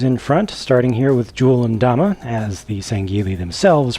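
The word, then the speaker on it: Jul 'Mdama: With these guys, I've again put the named characters in front, starting here with Jul and Dama, as the Sangheili themselves pronounce it in-game.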